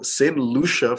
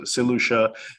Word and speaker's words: Saint Lucia: I look online and people don't even know how to pronounce the island you know they they're saying all sorts of variations so same Lucia for those who don't know how it's pronounced so seleucha is one of five